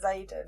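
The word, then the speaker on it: Xaden: said earlier you're like are we pronouncing it Zaden yeah yeah I was like well yeah because that's how you pronounce it honestly you know when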